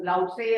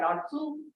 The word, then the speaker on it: Lao Tzu: Some of them, some say that it is by Lao Tzu, which is pronounced as Lao Tse or Lao Tzu.